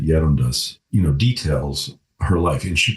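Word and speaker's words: Gerontius: We actually know because her biographer, her priest, I think we pronounce it Yerundas, details her life.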